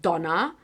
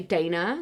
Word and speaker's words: Dana: But even Donna is not always how my name comes out because some people pronounce it kind of like Donna. Other people say Dana, like especially to the African side of things.